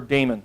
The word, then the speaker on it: daemon: dash D for a daemon we're gonna start a demon or a demon however you want to pronounce that okay so - D